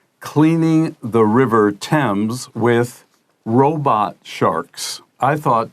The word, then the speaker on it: Thames: Today's lesson is called Cleaning the River Thames with Robot Sharks. I thought Thames was pronounced Thames. Of course, my teacher, that is Thames. It doesn't look anything like the way it's spelled.